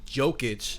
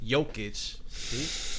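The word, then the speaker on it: Jokić: to be forced to step up and help joke itch see i said it right jokic you know those guys in the comments you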